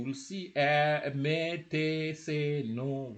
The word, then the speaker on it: nos: So those MES, TES, SES, those are possessives, and NOS is also possessive. Are possessives, and NOS is also possessive. So, and it is no, and then VOS is also possessive.